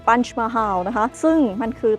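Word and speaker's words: Panch Mahal: ปัญจ มาฮาว นะ คะ ปัญจะ คือ 5 นะ หรือ ว่า ออก เสียง แบบ เขา ก็ คือ punch mahal นะ คะ ซึ่ง มัน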